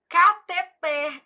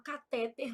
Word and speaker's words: cateter: Eu falo: "Júlia, você não é daquelas médicas que fala catéter, não, né? Porque sua mãe é professora de português. Foi com esse dinheirinho que ela pagou os seus estudos. Então você vai falar catet, ela fica rindo."